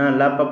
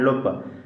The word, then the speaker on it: لپ: کی ضرورت نہیں ہے۔ اس کے بعد جو لفظ آ رہا ہے اس کے تلفظ پر تھوڑا سا غور کریں۔ لپ، نہ لپ پڑھنا ہے نہ لپ پڑھنا ہے، کیا پڑھنا ہے؟ لپ۔ لام پر آپ نے ضمہ پڑھنا ہے۔ لپ یعنی رخسار، لپ